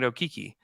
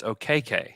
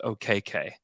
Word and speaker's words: Okeke: They told him, because he was pronouncing it Okiki, they told him like, you're pronouncing your name incorrectly. From your lineage, it's OKK.